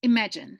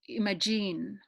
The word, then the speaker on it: imagine: a falcon and i'm imagine instead of Imogene so the stress is laid on the second syllable image image imagine next will be some